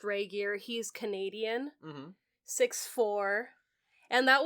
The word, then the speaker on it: Regier: pronounce it, but yeah, it's pronounced Regier.